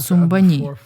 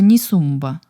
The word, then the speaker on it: Ni Sumbha: Тибетцы, все тибетцы, неправильно произносят сумбани, а надо Нисумба.